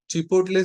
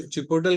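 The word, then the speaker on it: chipotle: चिपोटले seasoning, या कुछ चिपोटल, कुछ जन प्रोनाउंस करते हैं उसको चिपोटल, या कुछ जन उसको चिपोटले बोलते हैं।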